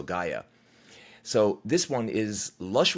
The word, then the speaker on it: Gaia: And he actually put in quotation marks, pronounced so Gaia.